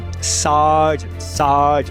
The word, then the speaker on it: sergeant: Também tem o sergeant, que você escreve com E, mas se pronuncia A.